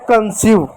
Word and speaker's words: conceive: ठीक, बचा वी का वो लिख दो, ई साइलेंट होता है तो हो गया कंसीव।